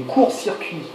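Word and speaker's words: courts-circuits: So here we've got the sound again, we've got the OUR sound. Yeah. So how do you say that? Des courts circuits. Des courts Des courts, a deeper sound, des courts circuits.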